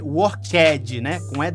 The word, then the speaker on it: worked: verbo para todo mundo aqui você escreve worked worked mas no final na pronúncia Nativa perfeita Esse é d tem o som de T Olha só o work